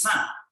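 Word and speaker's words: 三: the same format okay three in mandarin is sun so sun sure sun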